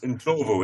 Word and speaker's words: Ndlovu: you have there had verified that it is Ndlovu. Yeah. It's Ndlovu. It's the Zulu word for an elephant, is an Ndlovu.